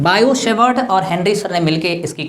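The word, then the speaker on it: Biot–Savart: biotech birds बोलकर है वह बोलते हैं इसको लिखते हैं वोट मटर पड़ते हैं भाइयों की साइलेंट होता है बायो सेवर्ट और हिंदी समय मिलकर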